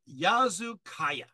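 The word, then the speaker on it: Yazılıkaya: we go this is the sanctuary site of yazu Kaaya that's spelled y a z i l i k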